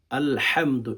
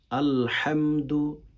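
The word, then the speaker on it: الحمد: আলহামদু এখানে ভেতর থেকে হচ্ছে উচ্চারণ করতে হয় আলহামদু লিল্লাহি আলহা আলহামদু এটার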